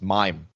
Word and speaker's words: Mame: But then I'd also tell people my name is pronounced mime, like pantomime.